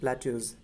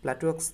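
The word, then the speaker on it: plateaux: এছাড়া রয়েছে প্ল্যাটিউ, প্ল্যাটিউ এর প্লুরাল হচ্ছে প্ল্যাটিউজ, এটা অথবা এটা উচ্চারণটা হবে প্ল্যাটিউজ, প্ল্যাটুয়াক্স না কিন্তু।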